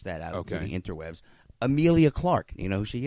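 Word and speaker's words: Emilia: Real quick, it is Emila. Is that how it's pronounced? Amelia.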